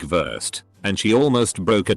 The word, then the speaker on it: Wurst: W is pronounced V. Something like worst, sausage, is pronounced more like Wurst, and she almost broke a desk because of it.